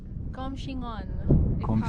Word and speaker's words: Coumshingaun: panoramic view of the comm xing on that's how you pronounce it correctly lake it feels so